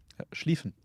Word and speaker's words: Schlieffen: Schlieffen. Yeah, Schlieffen. SCH is not like a sk, but it's a sh in German. And IE is like a long E sound.